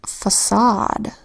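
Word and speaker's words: façade: into the exceptions category first word facade where the C makes a soft C sound even though it comes before an A it should make the hard C sound if it we're following the rule but it's not following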